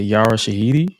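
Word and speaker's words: Yara Shahidi: Uh one of the one of the attendees for the event was uh Yara Shahiti.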